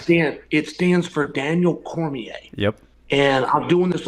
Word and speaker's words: Cormier: and he's like Daniel cormer and it's like it's pronounced Cormier there's just no a in it just like just say the word just say just say Cormier at some point please